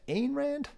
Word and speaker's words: Ayn Rand: Ayn Rand? How do you pronounce her name?